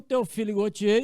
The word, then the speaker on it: Théophile Gautier: Eu pronuncio bem em francês, eu estudei um pouco o idioma. Então, o Théophile Gautier e o grupo dele,